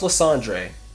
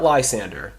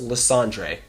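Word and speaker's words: Lysandre: making the world beautiful the dude LeAndre it's pronounced LeAndre not not Lysander it's pronounced LeAndre LeAndre has a goal in mind okay and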